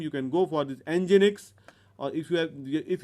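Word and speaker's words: nginx: at that is coming we pronounce it as engine X.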